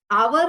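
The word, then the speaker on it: hour: हैं ठीक है ना आवर होता है एच ओ यू आर वसे इस एच साइलेंट है है ना और सेकंड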